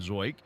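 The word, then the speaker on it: Zeuch: curveball that time from zoik his last name by the way is spelled z-e-u-c-h zoik one out to Maggie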